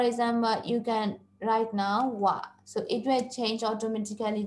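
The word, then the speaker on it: は: So you can keep on going forward by pressing enter and then click on wa, which is ha, we pronounce as wa over here as the particle.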